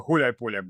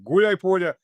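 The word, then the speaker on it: Гуляйполе: The main fortress being Gulai Polye, which, by the way, it's two words combined to one, Gulai and Polye. Everybody keeps pronouncing it, and for some reason, Gulai Polye. Gulai Polye, which means tumbleweed in English, if you translate that.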